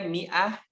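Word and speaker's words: مائة: bacanya begitu ya atau tulisannya membacanya Miah tulisannya apa Eh ada Alifiah di depan Bie teh kalau 100 Miatun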